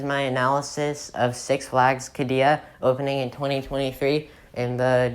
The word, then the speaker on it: Qiddiya: that that is my analysis of six flags kadia opening in 2023 in the desert of saudi